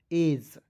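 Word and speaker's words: age: ए जी ई, ठीक है, तो इसे पढ़ेंगे, ए को ए पढ़ना है, जी ई को पढ़ना है दोस्तों ज, एज।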